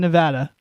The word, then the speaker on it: Nevada: Number Nuts band, but and Nevada, Missouri instead of Nevada.